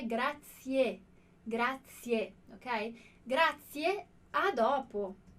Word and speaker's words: grazie: E a pronúncia aqui é a mesma pronúncia que a gente faz no som de pizza. Então, se você tem alguma dificuldade, ó, grazie, grazie.